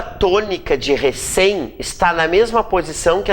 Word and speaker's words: recém: Recém é uma palavra oxítona.